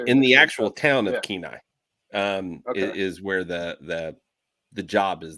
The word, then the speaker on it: Kenai: Kenai, yeah. Kenai. Or Soldotna. I can't remember which one you'd mentioned. It's either Kenai in the town, right in the actual town of Kenai, is where the job is there.